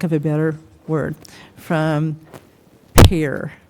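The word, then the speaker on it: Pare: a better word from Pair par it you p a r e should be pair just so you know okay so that's so par even though it's spelled p a okay so um what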